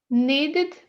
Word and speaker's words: needed: Como é que você acha que vai pronunciar? Needed?